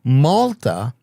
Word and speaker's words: Malta: took a boat to Malta, which took like a week, right? Back in those days. Which is obviously a side up cuz it rhymes with the Yalta.